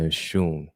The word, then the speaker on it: Oshun: So tonight episode, we'll be learning more about the mysteries, the understanding, the spiritual, the divination of the Orishas, Oya and Oshun.